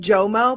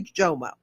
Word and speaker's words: JOMO: Is it JOMO, FOMO, JOMO, right? Am I saying it right? Yeah, it's JOMO, the joy of missing out.